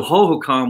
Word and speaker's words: Hohokam: always talk well the hohokam expressway is a bit backed up you know so ho ho com was like the way we learned how to say it when we were younger